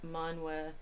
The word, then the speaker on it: Manwë: According to Tolkien's pronunciation guide, E's are pronounced as in were, so I'm trying to say Finwë, Manwë, Olme, Fëanor.